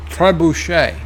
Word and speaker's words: trebuchet: Dells Ruby movie says it's pronounced tray bouche a trebuchet thank you miss alone